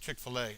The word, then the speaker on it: Chick-fil-A: And then I always said ChickfilA. I always pronounced it wrong.